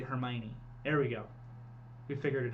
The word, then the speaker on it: Hermione: Hermione I think I used to say when I was reading it her Hermon or her Heron but it's actually Hermione there we go we